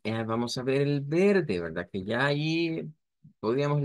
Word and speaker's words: verde: Se dice nada más que con una R suave, verde. Se puede pronunciar así, pero la pronunciación, digamos, más común es esta, verde.